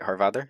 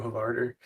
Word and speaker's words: Hávarðr: Hávarðr. That's how it's pronounced. Yeah, I do it just more like Americanized, I guess. I just do Hávarðr.